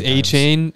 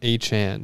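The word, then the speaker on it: Achane: uh we should all know he scored it's a chain that's how everyone's been saying it for years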